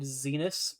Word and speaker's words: Zenus: Why is Twitch ads trying to sell me mattresses named Zenus? Rhymes with penis.